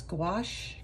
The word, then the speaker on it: gouache: I'm trying out this gouache kit today if you're not sure how to say it think of squash that's what I keep reminding myself so um what I've